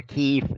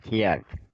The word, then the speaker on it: Kyiv: I mean, you call the capital Kyiv, not Kiev.